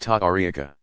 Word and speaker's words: tariqa: Spiritual guides of the various Sufi organizations called orders or paths, tariqa, pronounced ta'ariqa, also generally bear the title of sheikh or its Persian equivalent, pir, pronounced pir.